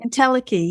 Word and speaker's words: entelechy: Entelechy, is that how you say it? Entelechy, yeah.